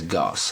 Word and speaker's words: Gauce: Literally, it's spelled like sauce, S-A-U-C-E, but it has a G instead of the S. Sauce is Goss.